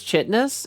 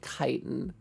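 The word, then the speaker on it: chitin: Um, the hell is Chitness? It's Chitness. It's like a Chittness armor on like uh It's supposed to be kiten. Kitanis. I know how it's pronounced.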